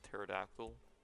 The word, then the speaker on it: pterodactyl: Just like there's a I'm pretty sure there's a P at the beginning of pterodactyl.